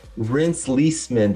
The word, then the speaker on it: Reenst Lesemann: Reenst Lesemann, did I pronounce that right, in the right way?